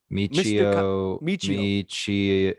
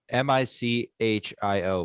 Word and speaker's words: Michio: i closed spotify kaku michio no i don't know if that's right hold on hold on we're almost there yeah me m-i-c-h-i-o michio right i would assume yeah yeah michio and